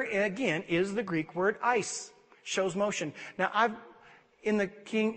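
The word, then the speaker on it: εἰς: is the Greek word Ice shows motion now I've in the king in the Strong's Concordance it says to pronounce it like the word ice like ice in your drink or falling on the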